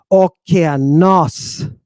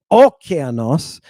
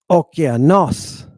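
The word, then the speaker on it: ὠκεανός: The proper pronunciation is okeanos. It's not okeanos, and it's not okeanos, and it's not okeanos. It's okeanos. You're putting a little extra time on that syllable where the stress accent is.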